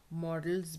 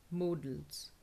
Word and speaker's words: modals: models भी बोलते हैं, लेकिन वो model नहीं है, ये modal है, ठीक है, और इसको हम pronounce करते हैं modals, modals, modals, modals. See how it is pronounced phonetically, modals.